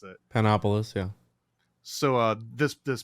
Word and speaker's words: Panopolis: about your uh your homeboy zosimos of panop panopticus I can't always pronounce it panopolis yeah so uh this this picture that I'm